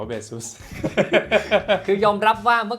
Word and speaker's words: Baseus: ฟัง ของ เบซ เุ มัน ออก เสียง ว่า เบซ ใช่ มั้ย ใช่ ครับ มัน ออก เสียง ว่า เบซ คือ ยอม รับ ว่า